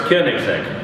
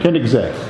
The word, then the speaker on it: Koenigsegg: Yeah, so it's actually pronounced Koenigsegg. Koenigsegg.